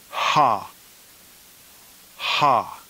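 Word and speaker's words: ἅ: And the neuter plural nominative is ha, ha.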